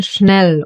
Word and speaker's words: Schnell: The STH will be pronounced as the sound Sh. Like for example in Schnell, or Schmutzig.